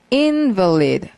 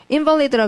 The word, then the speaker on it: invalid: invalid라 그러면은 명사이기도 하고 허약한일 때는 invalid라고 읽고요. 그다음에 무효할 때는 invalid라고 읽어요. invalid와 자, 여러분 보지 말고 한번 들어봐요. invalid, 그다음 invalid. 같은 말 같아요, 다른 말 같아요. invalid, invalid. 다른 말 같죠. 강세 때문에 소리가 확 달라지죠.